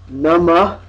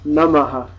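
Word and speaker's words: नमः: In the north, you'll hear it as nama, typically. The full Sanskrit pronunciation is namaha. This means this aspirate interrupts the vowel sound that is coming here after the consonant. It's like interspersed in there. So it's in there, maha, namaha.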